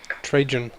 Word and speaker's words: Trajan: Trajan. We'll say it like that. I guess it's because I say it the Danish way.